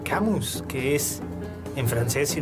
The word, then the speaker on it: Camus: usted aspira a ser debe de aprender a pronunciar camus que es en francés si no me falla